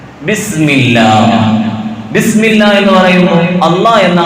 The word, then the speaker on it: അല്ലാഹ്: അപ്പോഴേ അല്ലാഹ് എന്ന് ഉച്ചരിക്കുന്ന ആ ഉച്ചാരണം ശരിയാകും.